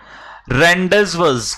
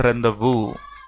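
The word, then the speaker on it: rendezvous: रेंडजवस, कुछ लोग इसका प्रोनाउंसिएशन शायद सही नहीं जानते, इसको बोलते हैं रेंदवू।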